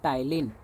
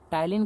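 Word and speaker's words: Ptyalin: है, इसको कहते हैं टाइलिन। इंग्लिश में देखें तो पी जो है साइलेंट होता है, टाइलिन कहते हैं।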